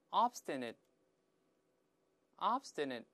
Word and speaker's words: obstinate: 我们先大声读一下，obstinate，obstinate。